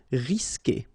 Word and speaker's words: risquer: Okay, you don't pronounce the U, so risquer.